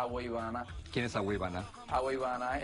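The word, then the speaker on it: Agüeybaná: Ayúdame, ayúdame a pronunciar correctamente. A ver, por ti bajo a los santos ya. A Agüeybana.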